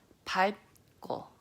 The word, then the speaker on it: 밟고: Okay, now this word is going to be pronounced as 밟고, 밟고. So this is the pronunciation where your tongue wants to do the L sound, but then it gets shut with the B sound.